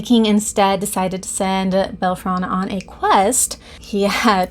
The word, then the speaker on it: Bellerophon: So there was this Greek hero, Bellerophon, I think is how you say it. Bellerophon. It's a PH in some.